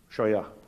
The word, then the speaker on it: Scheuer: Dr Scheuer, est-ce que je prononce bien votre nom? Scheuer.